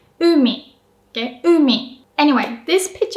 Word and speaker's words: umi: You can kind of hear that u is pronounced with a high pitch. You don't put too much stress. But if I have to exaggerate it, it would sound like umi.